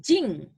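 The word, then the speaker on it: 人: Nama negara ditambah jing. Ini dibacanya jing ya, ditulisnya jin, tapi dibacanya jing des ya.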